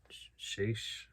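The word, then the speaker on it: Schaech: James Duvall, Rose McGowan, Jonathan Shaish, that's how you say his name.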